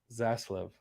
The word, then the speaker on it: Zaslav: to be a tough one for me to pronounce but zaslav um that's his last name uh david zaslov